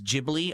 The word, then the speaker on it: Ghibli: It's actually not Gibbly. It's Jibli.